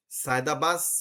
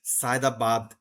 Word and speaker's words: সায়েদাবাদ: আপনারা যারা ঢাকায় থাকেন সাইদাবাদ সায়েদাবাদের আশেপাশে থাকেন আপনারা বাসের কন্ট্রাক্টরের মুখে শুনবেন সে যখন লোক ডাকে সে বলে কি? সাইদাবাস সাইদাবাস সাইদাবাস। জায়গার নাম হচ্ছে সাইদাবাদ।